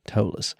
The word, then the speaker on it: Ptolus: it's spelled p-t-o-l-u-s am I right but it's pronounced tollus City by the Spire it is huge I